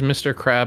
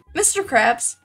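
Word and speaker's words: Mr. Krabs: have a weird question is it Mr crab or Mr Krabs Mr Krabs oh it's with an S I'm so sad I've been saying it wrong all these years Elle doesn't know his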